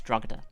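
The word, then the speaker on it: Drogheda: in his Massacre um my roomy says it's druga there you go my room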